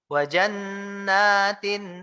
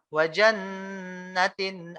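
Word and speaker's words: وَجَنَّاتٍ: Harusnya wajannatin alfafa. Ya, naknya panjang, Pak, nunnya panjang. Ini malah orang wajannatin alfafa. Wajannatin alfafa. Jadi nunnya nggak panjang.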